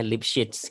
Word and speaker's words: Lipschitz: Lipschitz, bacanya Lipschitz gitu ya.